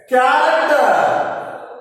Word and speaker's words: character: Next, character. In the word character, ch is pronounced as ka. The ch sounds like k sound.